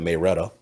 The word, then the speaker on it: Marietta: of town i mean the city i grew up is called marietta but everybody from there called it mayreda wait wait wait here's